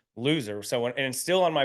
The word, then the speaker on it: Losier: and my grandparents say that it was always pronounced ler but you couldn't tell anybody that and you